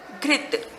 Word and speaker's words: घृत: वैसे इसको हम घ ऋषि की मात्रा त, घृत। ई का उच्चारण होता है पर इसको घृत बोलते, घृत।